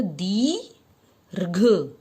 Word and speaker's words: दीर्घ: बनेगा यह दीर्घ बनेगा घ के ऊपर र का उच्चारण आता है दी रघ रघ रघ दीर्घ समझे बच्चों यह देखिए